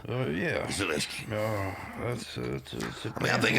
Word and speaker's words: Zelensky: Zelensky.